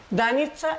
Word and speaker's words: Danica: Danitza es como se pronuncia. Danitza. Danitza. Danitza. Danitza. Danitza. Y se escribe Danica.